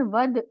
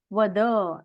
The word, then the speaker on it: वद: में बात करते हैं जहां वद इसका उच्चारण वद ऐसे किया जाता है जो अंतिम अकार होता है उसको इतनी अच्छी तरह से उसका उच्चारण नहीं होता है हिंदी या मराठी भाषा में लेकिन संस्कृत बोलते वक्त हमें उस पर ध्यान देना चाहिए और वद ऐसे कहना चाहिए भुज बलेन ऐसा नहीं